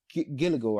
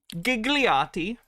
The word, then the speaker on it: Gigliotti: Gilligo, I might say it wrong. Gigliotti. Yes. Gigliotti. And he will tell you.